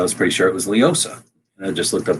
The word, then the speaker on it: LEOSA: So LEOSA is how they say it all the time.